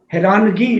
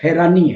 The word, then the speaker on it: حیرانی: پھر لفظوں کی تراش خراش تلفظات، حیرانگی لفظ استعمال ہوتا ہے بائبل میں بھی ہے، لفظ حیرانی ہے، صحیح لفظ حیرانی ہے. ہاں جی، حیرانگی نہیں ہے.